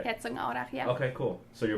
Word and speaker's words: Herzogenaurach: It's very close to Herzogenaurach. Okay. That's how you say it in German. Okay. Herzogenaurach, yeah.